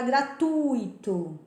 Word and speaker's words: gratuito: Por exemplo, a palavra gratuito, né? Como que você pronuncia? Tem muita gente que pronuncia gratuito. Não, é no U. Gratuito, fortuito, ruim, ok?